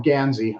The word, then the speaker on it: gansey: There's the Fair Isle ones and the Guernsey ones and the Guernsey. I said it wrong. Gansey. I always messed that up.